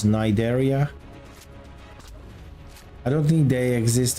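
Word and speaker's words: Cnidaria: was their Arc name I knew that I was mispronouncing that Syria that was how it is written but I think it was pronounced as nideria I don't think they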